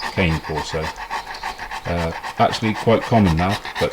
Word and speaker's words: cane corso: That's Dante, the Italian Mastiff, also known as a cane corso or a cane corso as they pronounce it in America, but I prefer cane corso.